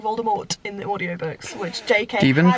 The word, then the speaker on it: Voldemort: looks, or even whether it's how you say Voldemort or Voldemort, because that's how they say it in the play, Voldemort, and I am not on board with that.